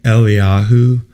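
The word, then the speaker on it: אליהו: I say Eliyahu because that's how it's pronounced in Hebrew.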